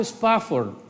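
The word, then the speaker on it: Spafford: un pastor misionero llamado Horacio spa Ford y así se pronuncia ese señor iba de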